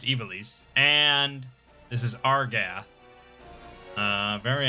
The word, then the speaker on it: Ivalice: And it's pronounced Ivalice.